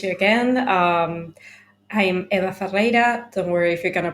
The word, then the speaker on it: Ferreira: again um I'm Eva fera don't worry if you're gonna pronounce my my surname sorry Double R is kind of impossible for English speaking people I don't know why